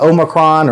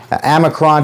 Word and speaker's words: omicron: um unfortunately this uh omicron or amicron depending on how you say it is spreading um there's